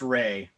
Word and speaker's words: Rea: ria is it ria or it's actually pronounced ray ray okay awesome